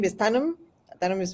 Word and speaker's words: Thanam: of us I think and my name is Tanum Tanum is pronounced Tanum I am a past president of the